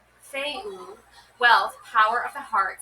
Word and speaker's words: Fehu: Interpreting the runes, pronounced Feu, wealth, power of the heart, self-imposed limits, Fafnir's story is a cautionary tale about the power of wealth.